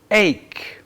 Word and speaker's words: ache: Ache. And although there's an H there, we don't really pronounce it. We don't say ache, we say ache.